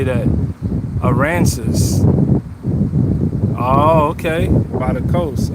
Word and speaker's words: Aransas: Aransas.